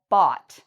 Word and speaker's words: bought: depending on the word in this word it's actually pronounced like an ah sound like the same sound you would hear in the word jaw ah so i would pronounce this as bought so here is the